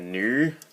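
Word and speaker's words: Nu: a lot like the new Gundam. Which is spelt as N-U, not like new as in this was brand new.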